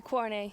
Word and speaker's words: Quarney: QUARNEY. QUARNEY?